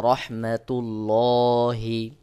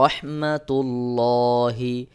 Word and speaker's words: রহমাতুল্লাহি: তার উপরে পেশ রয়েছে যদি আল্লাহ শব্দের লামের আগের হরফে পেশ বা জবর থাকে তাহলে এখানে মোটা বা পোর করে পড়তে